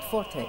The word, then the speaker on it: Forté: Forté?